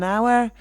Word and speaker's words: hour: Ann hotel now we say our hotel we pronounce it thank you our yeah an hour and then there aren't many uh an adjective